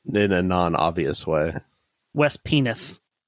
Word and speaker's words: Penwith: just and West penwith that could be pronounced like penneth or something I'm assuming that most of these are pronounced in a non-obvious way west penith this is fine